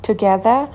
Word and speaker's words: together: We have meals یعنی ما غذا میخوریم together با هم دیگه. بچه‌ها together تلفظ آمریکایی که ر رو تلفظ میکنه ولی بریتیش اون ر آخر رو تلفظ نمیکنه، میگه together.